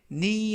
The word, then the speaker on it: knee: 이때 knee 하면 무릎이라는 명사가 되겠고요. 주의하실 점은 K는 이번 단어에서는 묵음이라서 발음이 되지 않습니다.